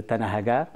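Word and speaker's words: Tan Ahaggar: et principalement, plus précisément, la Tassili de Tanahagar. Je prononce comme les Touaregs le prononcent.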